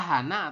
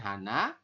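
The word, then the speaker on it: 하나: Bilangan asli itu penyebutannya adalah bisa Hana atau Han. Itu untuk satu ya. Nanti Anda bisa menyebutkan Hana atau Han saja boleh ya. Ini singkatannya adalah Han. Tapi kalau kalimat panjangnya adalah Hana.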